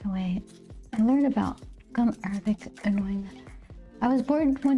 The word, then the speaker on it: gum arabic: Like that, saying it with the accent on the first day, right? Gum Arabic is the base to make watercolors.